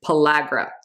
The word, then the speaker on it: pellagra: If you are lacking in B3, this causes a condition called pellagra, which I'm pretty sure I've been mispronouncing forever, but I looked it up before I did this video and it is pellagra.